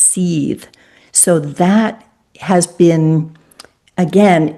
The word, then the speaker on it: Seth: So it's actually pronounced Seeth.